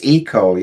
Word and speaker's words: eco: mention do you say echo or Eco because I've heard something for me it's ecoo yeah but here in Japan they tend to pronounce it Echo right yeah yeah yeah